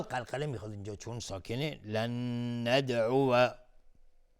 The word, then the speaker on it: لن ندعو: لن ندعو، اینجا روی واو فتحه گذاشته، میگیم لن ندعو. ممکنه بعضی تلفظ کنن لن ندعو، لن ندعو، لن ندعو. پس باید دقت کرد که اینجا واو فتحه داره.